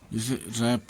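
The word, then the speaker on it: wrap: W silent W आर या डब्लू एस डब्लू में डब्लू प्रायः साइलेंट रहता है, जैसे रैप लपेटना, रिस्ट कलाई, रैक छती, राइट लिखना, आंसर उत्तर, सोर्ड तलवार।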